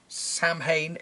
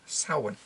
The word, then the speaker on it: Samhain: celt I feel obligated to say it's not pronounced Samhain is pronounced Sauron but anyway let's paint a little more of